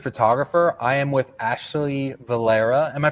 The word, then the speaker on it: Valera: I am with Ashley Valera. Am I pronouncing that right?